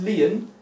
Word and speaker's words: lien: breath that's what a commercial lien is it's pronounced lion it comes from the latin origin link to